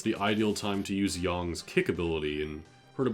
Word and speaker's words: Yang: I keep switching between Yang and Yang. I think it's Yang. It should be Yang, alright? That's how it's spelled, that's how it should be pronounced.